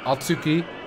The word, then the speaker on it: Atsuki: No, Atsuki. Syllable on the first. Starts on the first syllable.